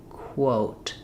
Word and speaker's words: quote: When I'm saying quo, I have to start k with my mouth open and then briefly close my lips before the O. Quote.